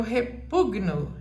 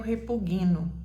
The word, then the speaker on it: repugno: vai ser tônica porque quando você fala repugnar a sílaba tônica é na mas na hora de você conjugar aí você vai falar eu e vamos ver se você sabe eu repugno eu repugno não é eu repuguino e eu tenho ouvido